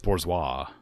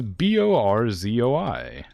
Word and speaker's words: borzoi: I also thought it was pronounced bourgeois, because I thought it was a French dog.